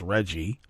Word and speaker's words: RGGI: his concerns with Reggie the rggi is pronounced Reggie Center on the state's